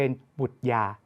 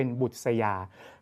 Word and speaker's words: บุษยา: ต้อง ออก เสียง อ่ะ หรือ บุษยา ถ้า เรา ไม่ มี ความ รู้ เรื่อง การ อ่าน ลูก อาจ จะ อ่าน คำ นี้ ผิด เป็น บุตร ยา นะ ครับ ต้อง อ่าน เป็น บุษยา การ อ่าน คำ บาลี